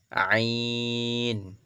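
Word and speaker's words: عين: এরপর হচ্ছে আইন কি আইন ভিতর থেকে আসবে কিন্তু একদম যেভাবে হা বের করলাম সেখান থেকে কিন্তু আসবে আইনটা তাহলে গেল আইন ফা একদম হালকা করে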